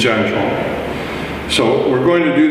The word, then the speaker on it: zhan zhuang: of different ways but from my chinese teachers who actually speak mandarin it's janjuan so we're going to